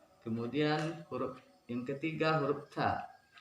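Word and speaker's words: ت: Kemudian huruf yang ketiga, huruf ta. Lidah menempel di gusi atas. Ta. Lidah tidak boleh keluar. Ta. Ta. Bukan huruf T tapi ta.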